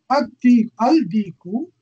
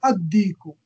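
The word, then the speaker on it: الديك: Al-diku will become ad-diku, the rooster.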